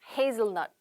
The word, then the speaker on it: hazelnut: hazelnut.